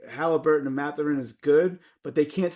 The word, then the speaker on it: Mathurin: They've got a young player in Benedict Mathurin. That's how you pronounce it.